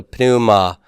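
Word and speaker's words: πνεῦμα: is Puma uh in in English when we have a p in sequence we we drop the P don't we and we just pronounce the n in Greek we're going to pronounce that P so Puma notice that this is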